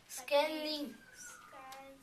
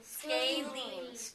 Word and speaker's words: scalene: Scanline. Close. Let's do the first part. Scale. Scaling. Scalene.